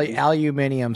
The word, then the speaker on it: aluminium: place to serve Al aluminium sounds way cooler well that's CU you you don't read it how it's spelled though yeah I I